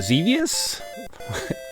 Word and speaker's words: Xevious: Here's a Xevious. Yeah, rhymes with devious.